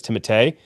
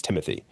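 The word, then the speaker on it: Timothée: is the fact that his name should be the way it's spelt and the way it's supposed to be said is Timotei. And he personally said, "I will never let anyone pronounce my name that way except my parents. It's Timothy."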